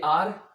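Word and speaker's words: hour: रहे हैं आप कि ये आर, एच इसका साइलेंट है इसलिए इसकी साउंड है आर, ओ यू आर, जिसे हम आवर भी बोलते हैं। ये वी का पोजेसिव प्रोनाउन भी है, उसे भी हम आर या आवर बोलते हैं। इसकी भी दोनों साउंड है, आर भी इसको कहा जाता है और आवर भी बोला जाता है।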